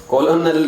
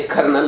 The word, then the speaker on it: colonel: तो हमारे फौज में ये एक रैंक होता है COLONEL, कॉलोनल नहीं होता, ये कर्नल होता है।